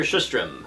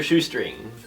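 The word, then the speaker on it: Sjöström: And finally, it's worth noting that this film director, Victor Sjustrom, I believe is how you pronounce it. Victor Shoestring.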